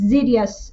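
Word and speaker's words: Xydhis: d h i s although it is pronounced as zidious agreement a serious agreement is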